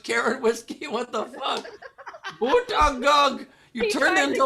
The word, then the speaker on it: Buttigieg: He put in parentheses how to pronounce it and put boot edge edge, and I'm like, that can't be right. That is right.